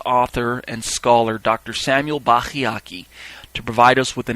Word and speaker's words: Bacchiocchi: to do his research, Bachyiaki is the one you want to go looking for. His name is spelled capital Bacchiocchi, Bachyiaki.